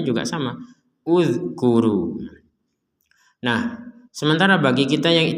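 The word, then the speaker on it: اذْكُرُوا: Kalau kita baca dari kata ini maka di sini huruf hamzahnya tidak ada harokat, kita membacanya dhammah. Uzkuru. Nah, ada pertanyaan, ini kenapa dibaca dhammah?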